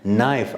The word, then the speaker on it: knife: For example, look, knob, K is silent, no, N is silent, knee, K is silent, knife, as you know, K is silent.